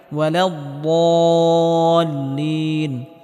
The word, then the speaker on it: ولا الضالين: আলাইহিম ওয়ালাদ্দাল্লিন, এখানে বদটিকে মোটা করে উচ্চারণ করতে হবে এবং হালকা আওয়াজ জারি রেখে উচ্চারণ করতে হবে।